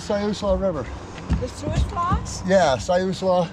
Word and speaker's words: Siuslaw: Yeah, Siuslaw. It's pronounced Siuslaw.